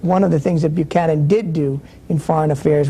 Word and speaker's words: Buchanan: My question is, why is his last name incessantly mispronounced? His name is Buchanan.